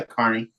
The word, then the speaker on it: Kearney: Yeah, Kearney. Kearney. Sorry, I always want to put that extra because it's spelled, right? E. Yeah, I want to put the E.